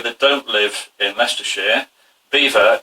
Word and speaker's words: Belvoir: don't live in leicestershire beaver is spelt belvoir b-e-l-v-o-i-r and it originates